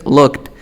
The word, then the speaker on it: looked: Entonces, si te pones a pensar, este es looked. Tú sabes que tiene sonido de T.